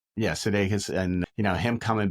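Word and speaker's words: Sudeikis: know, Ted Lasso is Jason, how do you pronounce his name? Oh, Jason Sedakus. Yeah, Sedakus.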